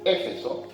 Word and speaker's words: Éfeso: que se llamaba Éfeso, acento en la E, Éfeso, que era una ciudad que tenía un montón de drama.